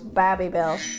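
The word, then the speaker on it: Babybel: of funny because like you pronounce it baby bell but the the advertisement was bobby bell bobby bell i can wear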